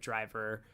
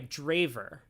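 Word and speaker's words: Drijver: That would give Driver nothing. Sorry, Draver. I forgot. I I always forget. There are so many names. Um, but chat has chastised me for not pronouncing it Draver.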